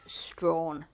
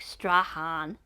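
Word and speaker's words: Strahan: was super impressed with chevo actually managing to pronounce Strawn because you hear so many bastardization like Stan and stuff like that so huge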